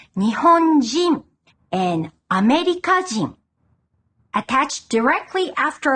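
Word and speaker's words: 日本人: This kanji is also used in words like Nihonjin and Amerikajin. Attached directly after a country name, it's pronounced jin. Nihonjin.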